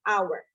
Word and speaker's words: hour: I often heard Indonesians pronounce this word as hour. So I think we should use it using silent H, so just hour.